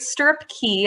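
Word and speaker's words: Stirrup Cay: more domestic we have great stirrup key as the bohemians pronounce it this is norwegian's private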